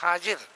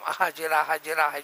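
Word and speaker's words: هاجر: علیہ السلام کی اہلیہ، جس کو حاجرہ کہتے ہیں، ایسے کئی چیزیں غلط تلفظ میں چل پڑی ہیں۔ حاجرہ کوئی چیز نہیں ہے، عربی ہے ہی نہیں، وہ جو عربی سے حاجرہ بنا لیا آپ لوگوں نے، وہ حاجر ہیں۔ قید کلیہ ہے، اس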